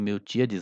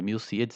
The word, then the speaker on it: Milcíades: Talvez eu tenha dito Miltíades antes, mas é Milcíades, eu tenho muito problema com essas pronúncias.